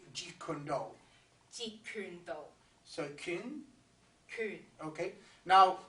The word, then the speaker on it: Jeet Kune Do: Jeet Kune Do.